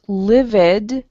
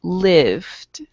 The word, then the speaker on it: lived: should that be pronounced livid or should that be pronounced lived late right good so i lift